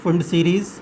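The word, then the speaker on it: Pfund: यहाँ P silent है, फुंड सीरीज़।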